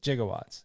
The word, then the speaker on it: gigawatts: gigawatts it was jig it was with a G but they just pronounced it that way that's why they kind like giraffe yeah exactly and originally